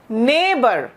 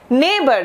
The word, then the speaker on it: neighbour: इस शब्द का उच्चारण क्या है? NEIGHBOUR, नेबर, नेबर, ये मेरी पड़ोसन है।